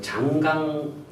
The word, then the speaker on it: 창강: 거기에서부터 그 다음에 이제 제주도와 그 장강 하구, 우리가 장강이라고도 하고 창강이라고도 하죠. 차는 이제 중국 발음입니다. 창강 하구를 이렇게 선을 이으면 그 사이가 중국의 황해, 우리나라에서 보면 서해 이렇게 되는 겁니다.